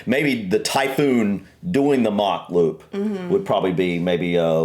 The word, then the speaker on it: Mach: I've also seen the mock loop mentioned. Um well he they pronounce it mac loop. Is it mac? Mac here we would pronounce it. Mach.